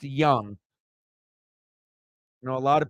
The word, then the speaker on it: Jung: not Josh Jung it's it's spelled j-u-n-g but it's pronounced Young you know a lot